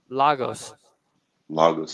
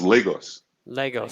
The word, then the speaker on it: Lagos: it all this while logos logos a lot of people say that but it's Legos Legos so like l e instead of La exactly pronounce but it's